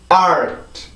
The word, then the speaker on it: art: art. 다시 한번 art. 네, 그래서 이 단어는 그렇게 발음을 해요. 절대로 아트 혹은 알트 이런 게 아니에요. 반드시 으라는 소리를 빼주고 순수하게 자음만 발음을 해주셔야지 이 단어를 정확히 할 수가 있습니다.